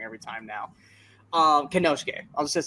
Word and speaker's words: Konosuke: We got Jon Moxley against I'm just gonna say Takeshita because I always say his first name wrong. Konosuke? Is it Konosuke, right?